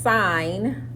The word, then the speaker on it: sine: One that says SIN is pronounced sine.